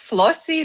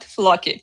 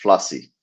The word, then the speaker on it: Floci: But first things first, as we discovered before the call, as you confirmed with me, it is pronounced Flossy, not Flocky. Correct? That's correct. Flossy.